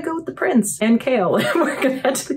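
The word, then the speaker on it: Chaol: It's spelled like this, but it sounds like Kale.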